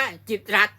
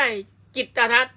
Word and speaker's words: กิตติ์รัฐ: ต้อง อ่าน ว่า จิตติรัตน์ แต่ ถ้า มี ธน ฆาต ตัว นี้ ตัว ติ เนี่ย จะ ถูก ฆ่า เสียง เมื่อ ถูก ฆ่า เสียง ก็ ต้อง อ่าน ว่า จิต รั ต้อง อ่าน ว่า จิต รัฐ นะ ส่วน สื่อ มล